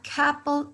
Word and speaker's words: couple: A couple of, a couple of. Si ustedes escuchan entre esa O y esa U, tenemos un sonido de A, ¿sí?